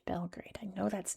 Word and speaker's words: Belgrade: I didn't bother to draw it out because it's not very large but obviously it's centered around Belgrade, which is how we say this city in English. Belgrade.